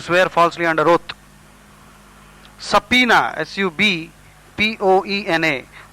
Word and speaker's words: subpoena: falsely under oath subpoena s u b p o e n a the B is silent here and it is pronounced